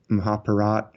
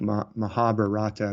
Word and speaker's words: Mahabharata: the Ramayana and the Mahabharata which is spelled like Mahabharata but I think they pronounce it Mahabharat yeah mostly but anyway